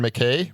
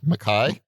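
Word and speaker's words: MacKaye: like uh yeah and i'm gonna say his name wrong and you're gonna correct ian mckay makai makai my guy you remember it though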